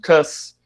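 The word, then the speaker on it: cuz: o apóstrofo e o C-U-Z, como cus. E aí muitos alunos às vezes me perguntam, professor, o que é esse seu cus, né? C-U-Z, cus? E aí eu explico para eles que é a pronúncia, digamos assim, em um contexto mais dinâmico da palavra por quê, né? Ou por causa de, dependendo do contexto.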